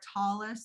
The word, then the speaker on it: tallis: So a talit or a talis, there's different ways of pronouncing it, is in English a